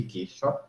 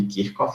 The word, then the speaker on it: Kirchhoff: Para os circuitos que faz sentido aplicar as leis de Kirchhoff, ou de Kirchhoff, se vocês preferirem a pronúncia mais próxima do original, que são os chamados, quando é que eu aplico as leis de Kirchhoff?